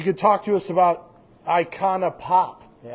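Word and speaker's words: Icona Pop: She could talk to us about Iconana Pop. Yeah. Did I even say that right or something? I think you said it exactly how it's spelled.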